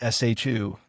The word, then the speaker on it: Xiu: And so Ming Xiu is shu, kinda, or something like shu.